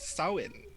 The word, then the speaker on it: Samhain: Apparently, when it's pronounced in Irish Gaelic, it's pronounced Samhain.